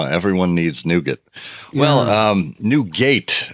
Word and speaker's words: Newgate: needs nougat well um new gate as it's spelled NE ewg a te um perhaps colloquially pronounced as nougat in the local area um yeah this is